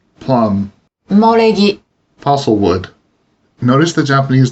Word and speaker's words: 埋もれ木: In ordinary conversation, when the Japanese syllable U comes before ma, me, or mo, it is often pronounced as if it were the syllable M. 馬、 Horse, 梅、 plum, 埋もれ木、 fossil wood.